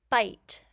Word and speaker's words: bite: Bite. We hear B, I, T, and the E is silent.